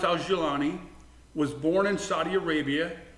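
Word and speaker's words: al-Jolani: But you will, it's pronounced Al-Jilani, was born in Saudi Arabia, but to Syrian parents.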